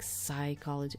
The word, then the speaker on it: psychology: But I think it comes from Latin words and you actually read the P. But in English, I don't know why you don't read it. You're just like psychology. I don't know why you say it like that.